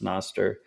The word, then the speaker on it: Nostr: Um, before we jump into Noster or however people want to pronounce it. I think it's pronounced Noster.